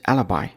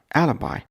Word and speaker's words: alibi: nine today's word is Alibi alabi Alibi is three syllables Alibi Alibi is noun